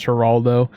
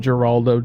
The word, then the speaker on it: Geraldo: It's pronounced Geraldo. Yeah, in my stories it's pronounced Geraldo. I know it's like Heraldo Riviera and like that, but I pronounced it Geraldo.